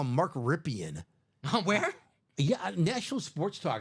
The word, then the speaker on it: Rypien: Maybe we don't have an old Joe Theismann situation going on that Mark Ripien, he's like, actually it's pronounced Ripien all these years.